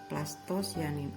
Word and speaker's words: plastosianin: Ini PC itu istilahnya penerima elektron plasto, sebenarnya cianin, cuma dibacanya sianin. Plastosianin.